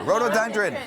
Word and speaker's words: rhododendron: try to pronounce this road on drun Road thank you rhododendron much better people from all over